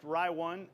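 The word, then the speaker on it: Ri1: funny label on it it's it but it's pronounced rye one uh it's a jim beam high-end ride that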